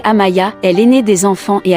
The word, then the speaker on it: Amia: Amia, prononcée Amaya, est l'aînée des enfants et a 17 ans.